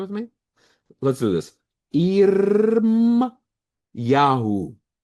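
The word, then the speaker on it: ירמיהו: Irm Yahoo. Irmiyahu.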